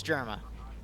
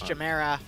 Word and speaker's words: Jamera: No, it's Germa. I'm calling him Germa. Okay, fine. You're right, it's Jamera.